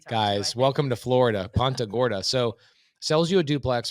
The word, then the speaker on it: Punta Gorda: gorda is that how you say it hunter punta gorda guys welcome to florida ponta gorda so sells you a duplex for 200 000